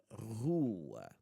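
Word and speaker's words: rua: Roo.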